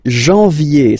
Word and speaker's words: janvier: wow, no, but anyway, janvier, so that's the way to pronounce it, janvier, A-N, en, okay, and then yé, yé, yé, janvier, then comes février, février,